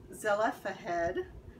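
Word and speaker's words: Zelophehad: man named man i just looked up this pronunciation a man named zella fahed had five daughters and zelena had passed away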